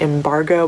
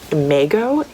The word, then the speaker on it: imago: So on the space station, they have this thing, I've been calling it embargo, but I know that's not at all how it's pronounced. On the space station, they have this thing called an imago, and it is like